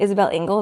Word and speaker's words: Isabelle Engel: Isabelle Engel.